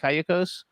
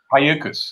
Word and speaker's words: Cayucos: Cayucos. Cayucas, yeah.